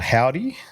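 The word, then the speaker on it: Hovvdy: Um I've been listening to a lot of this band called Howdy, um from the States, which is it's spelled H O V D Y.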